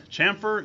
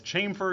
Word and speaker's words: chamfer: this referred to as chamfer you might hear it referred to as chamber you might hear it referred to as kaempffer you might hear it referred to as cam from those are all four pronunciations which appeared to be equally valid I call it chamfer so we're calling it